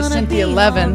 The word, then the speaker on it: Cynthia Levin: Cynthia Levin, that's how you pronounce her name.